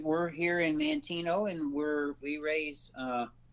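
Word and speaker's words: Manteno: and that is in I hope this I pronounced correctly Mantino Mantino Illinois how do you pronounce that John Mantino that's correct Mantino Illinois okay well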